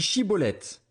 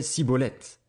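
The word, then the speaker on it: Schibboleth: Il lui disait alors « Eh bien, dis Chiboleth ». Et il disait Ciboleth, car il ne pouvait pas bien prononcer.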